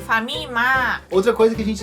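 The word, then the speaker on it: ファミマ: pronuncia Family mato e para facilitar a pronúncia eles acabam encurtando este nome e falam apenas famima outra coisa que a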